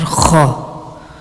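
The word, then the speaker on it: خ: And now the Mkhraj of letter Kha. Kha is pronounced from the top of the throat, which is nearest to the mouth.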